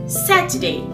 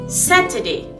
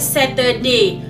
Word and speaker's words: Saturday: You remember, you have to always stress on the first letter.